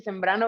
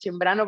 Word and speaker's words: Cembrano: Bueno, mi nombre es Cembrano, todo el mundo me dice Sembrano, pero mi apellido es Cembrano porque es italiano, pero si digo Cembrano me escriben con CH, entonces ahí tengo que hacer un mix para ver cómo se pronuncia.